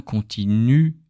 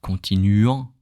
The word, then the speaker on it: continuent: If it's a verb, don't pronounce the ENT at the end.